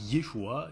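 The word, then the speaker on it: ישוע: En hébreu, Jésus, ça se dit Yeshua et ça s'écrit comme ça.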